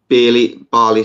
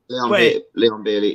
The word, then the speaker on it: Leon Bailey: You know, you've got Barley. Sorry if I'm pronouncing his name wrong. Leon Bailey.